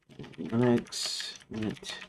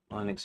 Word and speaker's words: Linux: I occasionally slip in and say Linux instead of Linux. I still say Linux should be the way you pronounce it, but since Lin Linus himself pronounces it Linux, uh, then I guess he gets to make it because he made it.